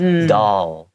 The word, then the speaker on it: doll: And you still see my tongue comes out and meets the front teeth. Doll.